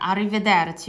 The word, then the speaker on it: arrivederci: arrivederci 여기 그 R이 두 개가 있기 때문에 arrivederci R가 두 개 있기 때문에 arrivederci 네, R 요렇게 발음이 되잖아요.